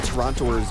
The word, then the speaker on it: Toronto: Esports I've heard that actual Toronto don't pronounce the first o it's kind of like Toronto really yeah it's very sof